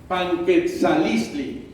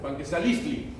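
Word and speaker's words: Panquetzaliztli: You are very easy to pronunciation. It's so nice. Panquetzalistli. Wonderful. Panquetzalistli.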